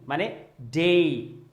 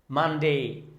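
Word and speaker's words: Monday: দেন মানডে মানডে, আমরা অনেকেই কিন্তু এটাকে মনডে বলি, ভুলেও কিন্তু মনডে বলা যাবে না, বলতে হবে মানডে মানডে।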